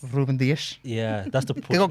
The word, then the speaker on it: Dias: João Cancelo, Ruben Diaz. Ruben Dias. Yeah, that's the. They got great pronunciations going on.